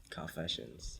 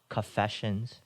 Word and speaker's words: Coffeesessions: It's called Coffeesessions. Coffeesessions. Yes, sir. Yeah. Don't mistake it for confessions. It's also spelled like coffee and then shuns.